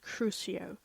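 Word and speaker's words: Crucio: The torture curse is pronounced cruio.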